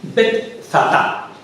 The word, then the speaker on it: Betzatá: ¿Cómo se escribe eso? Betzatá. B-E-T-Zatá. Viene el Evangelio, ¿eh? Yo leía Betsera.